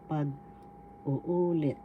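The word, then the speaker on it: pag-uulit: Let review tagalog retel or reiterate paguulit pag uulit first syllable pag second syllable u third syllable u fourth syllable lit the accent is in the third syllable so you say it pag uul ulit pag uulit that means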